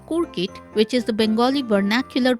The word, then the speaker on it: Coorkit: Hello viewers, today I'll show you how to make a Bengali Anglo-Indian recipe called kurkit, which is the Bengali vernacular pronunciation of the word croquettes.